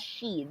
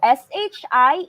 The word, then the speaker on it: shi: is not read as she this is sure pronunciation letter i if partnered with zh sh and ch it's pronounced as er so sh i is not she but instead it's pronounced as shi so colleague again is